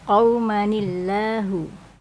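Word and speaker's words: قوما الله: Qaumanillahu. Qauman illa dibaca qaumanillahu.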